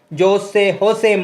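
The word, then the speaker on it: José: அங்கே இருக்கிற ஏர்போர்ட்டோட பேரையும் தருது, ஹோசே மாட்டி. அதாவது இது வந்து கியூபாவில் ஸ்பானிஷ் லாங்குவேஜ் தான் பேசுகிறபடியாக ஜேஎண்டு வந்தாலும் அதுக்கு அதை ப்ரொனவுன்ஸ் பண்ணுறது ஹெச் சவுண்டில்.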